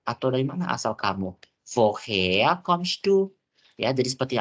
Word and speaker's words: woher: Ya, jadi seperti yang aku bilang tadi, huruf R kalau dalam bahasa Jerman tuh nggak terlalu yang kayak woher. Jadi bacanya woher. Jadi huruf R ini seakan-akan huruf A.